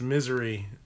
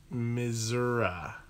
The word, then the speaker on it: Missouri: ridiculous Missouri pronounced misery or misery yeah this is just stupid